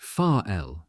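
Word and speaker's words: Varel: control commission for Germany at Varrell, pronounced far l, a small city 20 km south of Wilhelms Haraven and on the same large bay in the North Sea coast.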